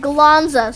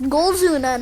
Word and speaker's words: Golzuna: that said galanza because it's not golas i was goldzuna and i was just not pronouncing it properly i said galonza so i apologize for calling this boss galanza it's goldzoona now we've established that but